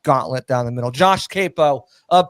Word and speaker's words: Queipo: whatever you want to call it Josh Capo it's spelled weird qu i p o i try